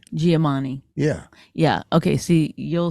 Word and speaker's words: Giamatti: What's the name of the Paul Giamatti. Paul Giamatti. I heard him on Stern. Oh, how are you saying it? Paul Giamatti. Giamatti.